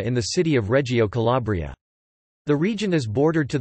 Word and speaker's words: Calabria: Calabria, Italian pronunciation, Calabria, Calabria in Calabrian, Calabria in Calabrian Greek, Calabria